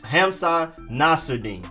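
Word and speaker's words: Hamsah Nasirildeen: of things nissil but it's just ham sock emphasis on ham and then emphasis on nas hamsa nacirdine then you have defensive lineman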